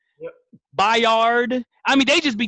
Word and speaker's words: Byard: Kevin Byard, Bird, Yep. Byard.